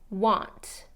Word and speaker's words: want: To, it can be ta, it can be to in the pronunciation. What. You want to make sure that a is reduced to that what. And want, okay?